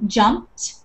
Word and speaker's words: jumped: Okay, so when we're adding the ED, it doesn't sound like an ED, it sounds like a T at the end of it.